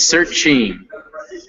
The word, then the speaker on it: searching: Yes, searching. Searching. To really make sure, almost pronounce it with a T.